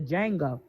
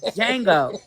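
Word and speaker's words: Django: Jackson off of the Jango. First of all the D is silent.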